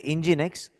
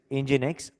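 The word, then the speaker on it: nginx: X NG I NX it is pronounced as engine X but we write it like this engine X these servers when you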